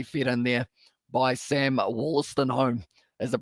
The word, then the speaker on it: Wollaston: But now it is going to be fed in there by Sam Wollaston is the pronunciation.